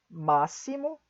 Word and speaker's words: máximo: Algumas outras exceções, temos também as palavras, além de auxílio, máximo, próximo, sintaxe. De novo, máximo, próximo, sintaxe. Essas palavras são algumas outras palavras que também são pronunciadas como S.